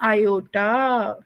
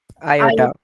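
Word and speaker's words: iota: आई को क्या प्रोनाउंस करते हैं प्रार्थना? आयोटा। क्या कहते हैं विशेष? आयोटा।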